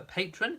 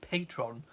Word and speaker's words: Patreon: the brand of Patreon, I've only ever heard Americans in their videos, in their YouTube videos, calling it Patron.